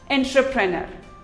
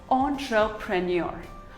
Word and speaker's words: entrepreneur: Here's another word most of us pronounce it as entrepreneur, while it is actually pronounced as entrepreneur.